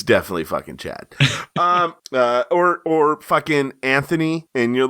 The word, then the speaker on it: Anthony: So, but he makes sure you have to pronounce it Anthony. Actually, it's Anthony. The H is silent.